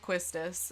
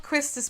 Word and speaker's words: Quistis: The many arguments over how to pronounce that name on the internet, it's probably still going on, but I pronounce it Quistis, and that's how I will be pronouncing it.